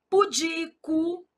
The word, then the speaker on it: pudico: Pudico, é uma paroxítona.